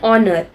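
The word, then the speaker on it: honour: जैसे कि देखो एन आर, एन ऑनर. ठीक है, तो यहाँ पर एच जो है इसमें साइलेंट है.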